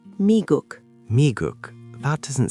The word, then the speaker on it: 미국: The United States is 미국, pronounced 미국.